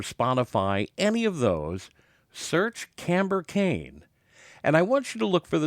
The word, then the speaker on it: Kamber: the bouncing ball the This Woman's name is camber Kain now keep in mind this is spelled with a k k a m b